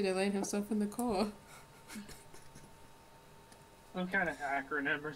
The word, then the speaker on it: Chao: Keith did something to land himself in the Koa. Some kind of acronym or something that we're invoking. So it's spelled CHAO, so you would have to create an acronym that starts with those letters.